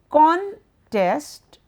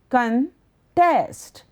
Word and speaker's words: contest: The word with a stress on the second syllable is a verb. That means to oppose.